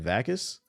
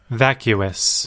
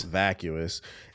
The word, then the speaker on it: vacuous: It's supremely What the How do you pronounce that? Vakus. Let me see. The God plumber. slow ass loading today. Vacuous. Vacuous.